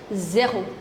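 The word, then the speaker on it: zéro: with the number row ज़ीरो in French is known as जेहो जेहो इट्स ज हो ऑलराइट इफ यू डू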